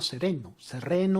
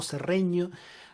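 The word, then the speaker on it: Cereno: que es el Capitán Benito Sereno o Serreño. Hay distintas formas de pronunciarlo, que es el amotinamiento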